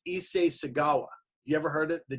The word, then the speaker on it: Issei Sagawa: of it I want to make sure I pronounce the guy's name right it's Issei Sagawa you ever heard it the Japanese cannibal okay